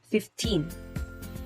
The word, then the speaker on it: fifteen: subs letter d numbers ending in team may receive the stress on either syllable but it is better for the student learning english as a second language to stress them always on the last syllable so as to distinguish clearly between 30 and 13 40 and 14. examples 50 fifteen sixty sixteen